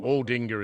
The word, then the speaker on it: Aldinga: You can tell me what the other place was, because I think I called it Aldinga or Aldinga. Which one? Aldinga is what it is. You called it Aldinga.